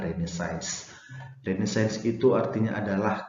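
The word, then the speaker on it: Renaissance: yaitu krimnya science ya tulisannya ressence sedangkan cara membacanya adalah redesigns jadi saya segitu artinya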